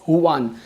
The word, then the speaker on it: Juan: as Huan, so Huan, you might spell your name as Juan, but it is pronounced as Huan.